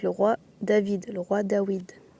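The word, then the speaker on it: דוד: Pourquoi on prononce le roi Dawid ? Parce que le W ici, cette lettre en hébreu aujourd'hui en hébreu moderne, ils appellent ça le va et le prononce V, donc David. Sauf que le va n'existe pas en hébreu antique. Le va en hébreu antique, c'est le wa qui se prononçait W.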